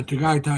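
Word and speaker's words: Tagaytay: downside of Tai or however you pronounce it." T A G A Y T A Y Dai. Yeah, Taggai.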